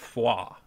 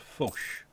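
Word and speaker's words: Foix: streamers that I watch, called that foie. Apparently, it's called fauche. There's like this whole sh sound at the end of it.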